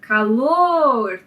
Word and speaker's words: calor: com a palavra calor o primeiro passo é dividir essa palavra em sílabas então calor depois você identifica a sílaba tônica calor e aí você conta da direita para esquerda nesse caso a sílaba tônica é a última sílaba da palavra certo então calor é uma palavra oxítona sem fica sílaba tônica